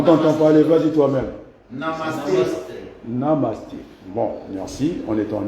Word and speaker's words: Namaste: Kunamaste. Est-ce que j'ai bien prononcé? Il y a quand même l'accent, non? Namasté. Kunamaste. On t'entend parler, vas-y toi-même. Namasté. Namaste.